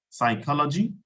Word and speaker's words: psychology: class I was talking about silent p and for that we have words like psychology psychology okay uh we